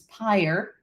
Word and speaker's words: pyre: xavier says 44 across his pyre it rhymes with fire appropriately yeah it sure